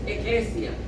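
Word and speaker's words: ἐκκλησία: La palabra iglesia en el griego es eclesia, la pronunciación.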